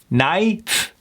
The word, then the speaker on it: knife: Why they would put a K in there, I have no idea, but we don't need to worry about it. All we need to know is that K is gone.